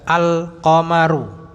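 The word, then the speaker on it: القمر: Huruf qamariyah jelas al-qamaru. Huruf syamsiyah lebur asy-syamsu.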